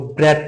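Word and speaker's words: breadth: और ब्रॉड का जो एब्स्ट्रैक्ट नाउन है वह ब्रेथ है। D would be silent here and D would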